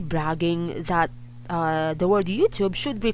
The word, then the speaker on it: YouTube: very very very wrong it should be youtube youtube you have to pop the tea pop the tea okay